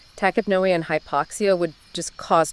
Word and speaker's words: tachypnea: And she says he entered it due to tachypnea and hypoxia. Right. So, tachypnea, which is pronounced tachypnea.